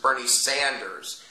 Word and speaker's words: Sanders: his name wrong before it's not Bernie Saunders Bernie Sanders Bernie Sanders has raped 218 children